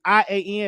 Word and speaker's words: Ian: is the e on a a i mean i a n is that ian is that how you pronounce his name oh yeah you say his